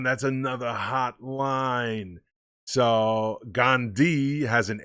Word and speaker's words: Gandhi: another hot line so gandhi has an h in it you know it's g-a-n-d-h-i but the h is silent so you say gone d and he's saying you